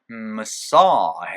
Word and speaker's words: massage: massage 해서 싸이 강세 찍어가지고 massage예요. Massage.